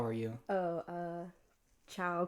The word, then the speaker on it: ciao: are you oh uh ciao k k oh my God it's a lot like Spanish I don't know if I pronounced that perfectly Chow it's Chow yeah like hi like Chow I thought I thought